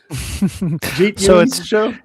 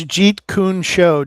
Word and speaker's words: Jeet Show: Jet show. It's Jeet show just like Bruce Lee's Jeet Kundo but it's show on the end.